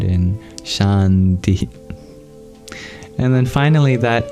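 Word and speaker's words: शान्ति: of Sanskrit transliteration so some pointers is that that s has an accent that is an sh sound just like in English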